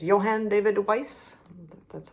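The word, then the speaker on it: Wyss: Robinson and that's by uh it's Johan David Weiss that's how you pronounce it um well a nice nice little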